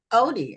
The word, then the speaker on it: Otey: but and your last name is is pronounced oot Odie Odie okay Odie okay thank you for being guest